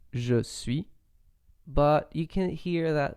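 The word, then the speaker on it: je suis: french so for example you normally say je sui but you can hear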